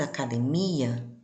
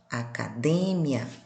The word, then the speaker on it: academia: No português, academia e no espanhol, academia.